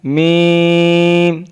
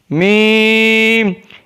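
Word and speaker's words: میم: Meem is pronounced from the dry part of both lips.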